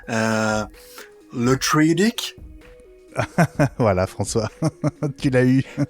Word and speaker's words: Le Truédic: Je vais mal le prononcer. Le Truedic.